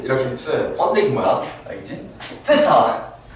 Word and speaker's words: 세타: 자, 그렇게 해서 그 세타라는게 이제 TH 발음 세타 정확하게 빼 빼게 각을 미지으로 표현할 때 이제 이렇게 써요. 펀데이 뭐야? 알겠지? 세타.